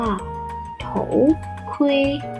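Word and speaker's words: 头盔: น็อค นะ คะ ภาษา จีน นะ เรียก ว่า โถ คุย โถ คุย แล้ว ว่า หมวก กัน น็อค ค่ะ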